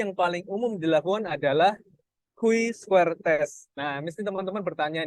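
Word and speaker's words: chi-square: Nah, uji yang paling umum dilakukan adalah Q-square test. Nah, mesti teman-teman bertanya nih, kok bacanya Q? Nah, memang di buku memang bacanya Q. Padahal C-square test ya, tapi bacanya di buku memang Q, seperti itu.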